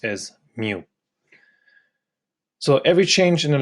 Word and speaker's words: mu: B / B equal to this Greek letter pronounced as Mu so every change in the level of domestic